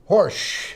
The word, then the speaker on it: Horejsi: John Horsch. Correct. Did I pronounce it right, John?